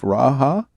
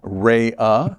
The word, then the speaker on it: Raha: Giselle Kovac and Raha, I pronounced that correct? Rhea, thank you for the correction.